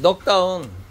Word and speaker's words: 넉다운: 이제 넉다운. 예. 넉은 K는 묵음이다. 묵음. 예? 왜 N이 아닌가요? 이렇게 묵음이에요. 묵음.